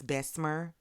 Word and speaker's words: Bessemer: It's Bessemer, by the way. I'm from Birmingham, Alabama. It's Bessemer. Now, do I say it like that? No, I don't. I say Belma too. Bessemer, Belma, whatever.